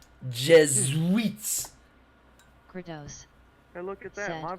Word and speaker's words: Jesuits: eat a dick Jesuits you gotta say it how it sounds Jesuits it's not Jess like it's written on paper it's a z the S is a z Jesuits and look at that